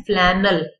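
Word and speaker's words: flannel: लिए इस्तेमाल होता है, लेकिन असल में उसका लफ्ज की प्रोनाउंसिएशन वो इंग्लिश का वर्ड है और उसका मतलब है फ्लैनल। ठीक है, फ्लैनल पढ़ते हैं उसको इस तरह से।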